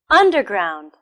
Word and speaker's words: underground: The second word is underground. Underground. Where's the stress? It's also on the first syllable.